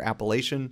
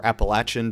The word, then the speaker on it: Appalachian: standard Varsity block a for Appalachian or appalachin depending on who you ask out of for pronunciation and then we can